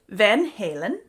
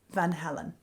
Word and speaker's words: Van Halen: I will do my best to say Van Halen, because I feel like that's representative of the band and the correct approach. But you'll have to forgive me if I slip up, because it's true, I still hear it and see it in my mind as Van Halen.